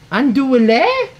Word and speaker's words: andouille: It's pronounced andouille. Oh, but how did they say? I think in français it's andouille.